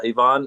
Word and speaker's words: Ivan: This is Ivonne was at GA. Do you see the picture on the screen there of Ivonne? Yes, we had Ivon. Ivan is written Ivan is pronounced Ivonne and his wife Lucy.